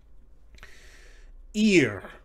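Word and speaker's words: עִיר: added iron a nyam ear kind of like the english word ear right meaning city or town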